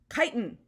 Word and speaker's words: chitin: Chitin, so you pronounce this C word.